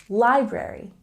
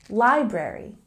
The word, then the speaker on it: library: a look at pronunciation we have a stress on the first syllable library library and the next linking